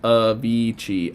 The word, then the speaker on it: Avicii: so rest in peace he was a dj pronounced avicii oh avicii okay sorry guys my my age is showing